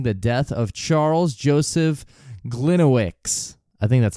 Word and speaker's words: Gliniewicz: How do you spell that? it's Gliniewicz. Got it. Gliniewicz.